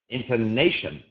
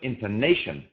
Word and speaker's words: intonation: is not pronounced Focus ination again it's not ination it's just intonation Rhythm very often the